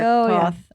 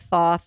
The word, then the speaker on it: Thoth: but maybe you're wrong it's spelled t-h-o-th we should have probably looked at it yeah I did but I did the um one of my uh tarot episodes I think it was pronounced Toth okay so yeah I've